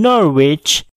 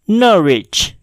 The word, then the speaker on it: Norwich: terdapat pada kata berikut Jika kamu membacanya dengan Norwich maka kamu harus memperbaiki nya karena bacaan yang benar adalah Norwich Norwich hunkwe tidaklah dibaca contoh lain yaitu pada